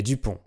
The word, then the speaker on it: Dupont: une seule, Dupont et Dupont. Alors comme vous le savez, les consonnes à la fin des mots en français sont muettes, et le nom de